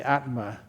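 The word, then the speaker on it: ātma: the Atma that's how was it was uh pronounced in in uh Sanskrit the Atma in par the uh that's right uh the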